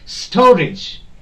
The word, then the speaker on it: storage: Okay, storage. Any word ending with age, the stress will not be put on this age, but the part or the syllable which is before this age.